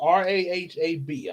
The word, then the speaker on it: Rahab: That's still r a hab. I'm hope I'm pronouncing that right.